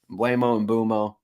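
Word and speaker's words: Mbeumo: But some things that stood out to me was Brian Mbuemo here is high up. Mbuemo. I've been saying his name wrong for a couple years, but he is high up this list.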